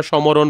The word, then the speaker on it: স্মরণ: যেমন এখানে দেখো স্মরণ, এই যে শয়ের নিচে হচ্ছে একটা ম যুক্ত হয়েছে কিন্তু এখানে আমরা সমরণ বলি না, শুধু স্মরণ বলি।